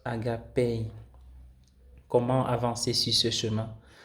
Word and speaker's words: agapé: Il se prononce agapé.